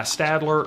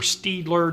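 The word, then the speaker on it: Staedtler: I'm going to be using a mechanical drawing pencil, and this is made by Stadler or Steedler, depending on how you pronounce it.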